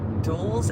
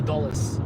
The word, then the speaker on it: Dulles: Karin got close to the Discovery Orbiter once because she went to the Air and Space Museum by Doul's airport. Oh, Dulles. Doulles. I wouldn't have pronounced it like that.